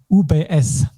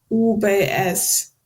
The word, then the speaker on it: UBS: so this actually uh we pronounce it with German letters it's a bit a memorization games which abbreviations you have to pronounce English and which German and this one is UBS UBS yes by the way